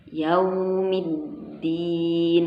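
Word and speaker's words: يَوْمِ الدِّينِ: Jadi setiap kita menggunakan huruf waw harus betul-betul kita sempurnakan ya cara pembacanya. Nggak boleh wa, nggak boleh, harus wa, karena dia adalah huruf bibir asyafatain. Yaumiddin, nggak boleh yau.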